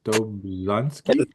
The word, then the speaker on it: Dobzhansky: Theodosius Dobzhansky?